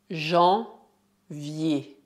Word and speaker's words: janvier: Janvier. Cuidado, quando as letras E mais R são colocadas no fim de uma palavra, devemos pronunciá-las como um bloco.